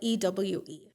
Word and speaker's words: Ewe: So you spell it E-W-E. EWE. E-W-E. But you say Ewe. So the W is like a V.